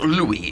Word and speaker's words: Louis: now so it's pronounced louis is it louis yes unlike lewis hill yes louis kimber ew